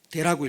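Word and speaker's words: δέ: 헬라어로는 대라고 읽고요, 영어 성경으로는 but이라고 되어 있습니다.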